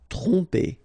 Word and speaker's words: tromper: Tromper. Okay, same thing here. OM, so, and after that you get a consonant, so technically you will pronounce it like a nasal here. OM will go like on.